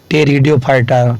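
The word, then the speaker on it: Pteridophyta: पहला है थाइलोफाइटा, सेकंड है ब्रायोफाइटा और थर्ड है टेरिडोफाइटा। टेरिडो को पी टेरिडो से लिखते हैं, पी शुरू करते हैं, जो साइलेंट होता है।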